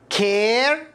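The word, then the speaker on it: care: لكن إذا وجدت الحرف A جاء بعده حرف ساكن ثم حرف الإي وهذا منتشر كثير في اللغة الإنجليزية فستنطق الإي مكسور كما في كلمة كير، نيم، فيت، ريت، هيت.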